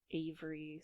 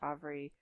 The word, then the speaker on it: Avri: only seen the name Avery slash Avri written down, and that's probably why in my head I'm thinking of it as being pronounced Avri, not Avery.